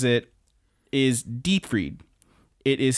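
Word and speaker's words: Dietfried: the name as the person says it is deep read it is spelled diet hard di e th ard look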